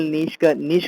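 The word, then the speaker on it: niche: नीशनी से नीशे बोलते हैं, प्रोनाउंसिएशन इसका नीशे है।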